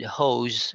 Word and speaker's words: hose: So the difference between dose and hose here is the Z sound. With dose, we just pronounce it as S, but with hose, we pronounce it with a Z.